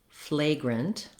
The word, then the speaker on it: flagrant: In this video, we'll look at the words fragrant, flagrant, and fragrance. Help you to pronounce these smoothly and easily in your everyday speech.